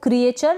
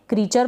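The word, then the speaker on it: creature: अब इसको क्रिएचर ना पढ़ें, क्रीचर पढ़ेंगे।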